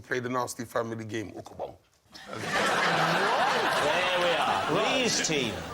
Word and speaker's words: ukabong: This is an ukabong. Me and my cousins would each make an ukabong to play the Nasty family game, ukabong.